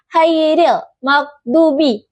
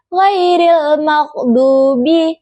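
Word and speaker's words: غير المغضوب: Kesalahan yang sering terjadi pengucapan dal seperti dal sehingga terdengar seperti dalin. Contoh bacaan benar dolin dengan dal yang memiliki getaran jelas.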